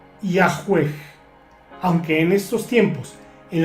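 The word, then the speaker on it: Yahweh: Los eruditos modernos conjeturan que originalmente se pronunciaba Yahwe.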